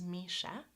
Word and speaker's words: Misha: So, for example, my name, which is Misha, has two syllables, Mi-sha, and two vowel sounds, right? E, me, and a, sha.